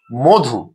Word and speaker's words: মধু: মধু মধু শব্দটিতে আমরা দেখছি ম এর সাথে অকার আছে এবং তার পরের ধ্বনি ধ এর সাথে উকার আছে। অর্থাৎ এটির উচ্চারণ হবে মধু।